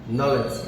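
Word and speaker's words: knowledge: এই নলেজ শব্দটি যে উচ্চারণ, এখানে বানানে আছে KNOWLEDG, নলেজ। এখানে প্রথম যে বর্ণটি কে এবং তারপরে শেষে যে বর্ণটি, শেষের বর্ণের আগের বর্ণ ডি, এই দুইটা বর্ণ কিন্তু এখানে উচ্চারিত হচ্ছে না।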